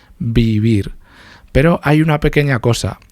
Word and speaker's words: vivir: Pero se pronuncian, la B y la V se pronuncian igual, es bilabial, beber, vivir.